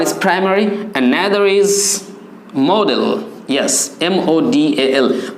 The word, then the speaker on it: modal: ওয়ান is primary and another is মডেল। ইয়েস, MODAL, উচ্চারণটা কিন্তু মোডাল, মডেল নয়।